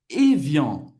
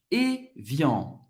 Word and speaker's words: Evian: essa água que é Evian. Evian. Evian. AN igual a EN em francês tem o som do en.